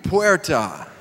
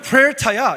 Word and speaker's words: puerta: And I'd say, you, Puerta. 너는 Puerta야 이렇게 말했습니다.